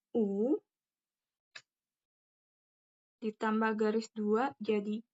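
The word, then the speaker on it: ㅜ: U. Tulisannya O tapi dibacanya U. Agak turun ke bawah. O-nya. Ee O-nya bukan O secara jelas, tapi O-nya diturunin. O.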